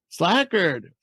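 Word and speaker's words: Slajchert: Slackard. Like that name. All right. So they bring back Max Martz, Clark Slackard, Nick Spinozzo, and George Smith.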